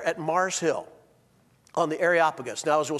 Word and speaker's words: Areopagus: one day in church Chuck swindoll's associate Minister pronounced it arop pegus no no no it's areopagus and areopagus is the Mars Hill this is where Paul